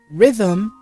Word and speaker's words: rhythm: there's a e here rhythm the h is silent scale the e is silent and chord the h is silent.